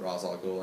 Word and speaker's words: Ra's al Ghul: Do you know about Ra's al Ghul it's really pronounced Rach. They pronounce it Ra's al Ghul in this.